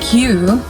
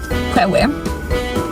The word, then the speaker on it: queue: During the waiting line, the queue, which I will always read as Kwewe. I will always read that as Kwewe, not queue. What is queue? Why is it written Kwewe if you pronounce it queue?